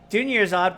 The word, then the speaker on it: Dunyarzad: Dunyarzad rhymes with Junior God.